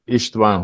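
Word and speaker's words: István: Yes, as Chris said, I am just Brother Istvan Horvath. That's the correct pronunciation in my language.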